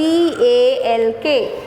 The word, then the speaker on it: talk: the next word t t-a-l-k what's the a-l-k is again talk it's not tall it's top so l is a silent letter so the letter l is not pronounced when you say talk so l is silent